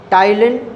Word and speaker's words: ptyalin: Next point, saliva contain, saliva contain टाइलिन, टाइलिन PTAYALINE, पी से P silent है इसकी spelling में ना।